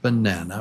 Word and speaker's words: banana: That 3 and 2, that means there are 3 beats in banana, 3 claps. Banana, banana, and number 2, syllable number 2 is the strong syllable.